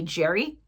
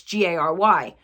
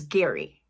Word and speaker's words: Gerry: my brother's name that's g a r y well he spells it uh the way he spells it it's actually pronounced like fairy but with a G so it's Gary I know it's still